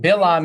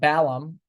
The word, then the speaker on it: Balaam: Bilam is Hebrew, but Balaam is probably how they do it in the English.